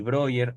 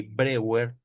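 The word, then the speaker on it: Breuer: sobre la histeria, donde Freud y Bryer o Freud y Brewer, dependiendo como ustedes lo quieran pronunciar, proponen la catarsis como un método terapéutico.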